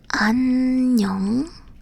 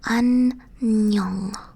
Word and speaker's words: 안녕: This, by the way, that is not O. This is either it's NG. You end like a word with a sound, or you start a vowel syllable with this. So it would either be like 안녕. This, it ends with the ng sound, but this one, it starts with that because it starts with ah.